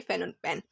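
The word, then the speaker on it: Phnom Penh: फैन पंखा ऑन पेन। तो इसकी प्रोनाउंसिएशन भी यही है फेनोनपन।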